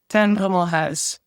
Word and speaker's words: Brummelhuis: Ten Brummelhuis. Yeah, you don't have that sound in English. So I typically just tell people, just make it house at the end and it's fine.